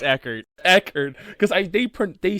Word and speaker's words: Eckhardt: one was Eckert. It's Eckert.